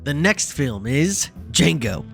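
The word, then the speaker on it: Django: the next film is jeno Unchained d j a n g o the D is silent I know Tarantino's first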